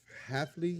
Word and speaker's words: Hafley: Jeff Hafley, is that how you say his name?